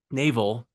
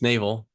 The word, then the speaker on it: Naval: need I still need to read so Naval Naval is how you pronounce it actually it's Naval he grew up he was a a poor